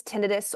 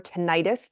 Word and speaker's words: tinnitus: It's also known as tinnitus or tinnitus, depending how you pronounce it.